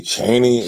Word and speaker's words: Cheney: okay you say Cheney if you say Cheney as far as like with that with one a and and one e that's fine that's actually how you actually pronounce my last name I said cheny yeah